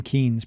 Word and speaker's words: Keynes: Moreover, as he was prompt to point out, the name Keynes, properly pronounced, rhymed with brains. So it's Keynes.